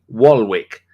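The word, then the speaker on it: Waalwijk: and here we go a little bit of pronunciation for you here rkc wall wick w a a l w i j k that's just gibberish in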